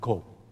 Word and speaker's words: 子: Although I got to be careful, my dear friend, because the same character zi in Chinese, in Japanese, it pronounced ko.